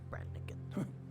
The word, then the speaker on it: Branagan: irresponsible nurse branagan is worried about you Doctor Branan that's how you pronounce it she should not have told you